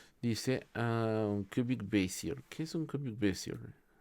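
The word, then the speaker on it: Bézier: ¿Cómo se pronuncia esto? Bezier. Bezier.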